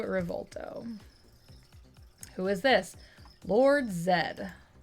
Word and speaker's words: Zedd: who is this Lord Zedd though technically Lord Zi is correct too because that's just that is just how you pronounce it another english-speaking countries Canada Australia New Zealand UK they all say that what was the name